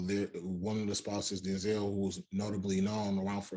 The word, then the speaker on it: Denzel: really the proper way to say his name denzel and pauletta is um she also was an